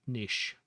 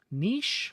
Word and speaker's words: niche: A hooded statue stands in an arched niche. Nish or Nich. I've heard differing pronunciations.